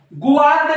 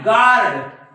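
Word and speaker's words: guard: असं म्हणू शकता तुम्ही गवार्ड नाही गार्ड काय म्हणणार गार्ड गार्ड बघा हा युद्ध सायलेंट आहे right sorry sorry sorry sorry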